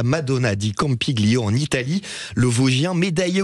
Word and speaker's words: Campiglio: Madonna di Campiglio. On prononce pas le G en italien quand on le dit comme ça.